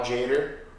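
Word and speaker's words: Tjader: Cal Jader? Yeah, you were the one who said don't pronounce the T.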